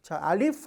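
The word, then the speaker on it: ألف: 여기서 제가 써준게 뭐냐면 F 발음만 주의하라고 써드렸죠 알리프 할 때 우리가 미니가 아래 입 살짝 닿아야 돼요 함정에 말하고요 함자라는 거는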